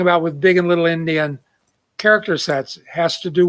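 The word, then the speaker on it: endian: one is called big indian the other is called little indian indian is spelled e-n-d-i-a-n it doesn't have anything to do with native americans or people from india or all the other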